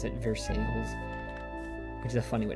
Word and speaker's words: Versailles: And the locals pronounce it Versailles, which is a funny way to pronounce stuff.